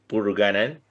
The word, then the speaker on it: Purugganan: She is Milani Purugganan. Tama ba? Did Yes, I sir.